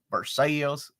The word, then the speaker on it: Versailles: But we pronounce it our own way. Versailles, London.